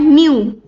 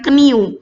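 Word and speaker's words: knew: nah berubah menjadi fop2 itu dibacanya new bukan new ya tapi new atau apalagi bukan kniu jadi enggak ada dibacanya kniu gak ada kayaknya itu hilang new nah ketika berubah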